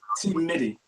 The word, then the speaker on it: T Mitty: We call him T Mitty. T Mitty. Oh it's shit! Pronounced with D's, but it's spelled with T's. T Mitty.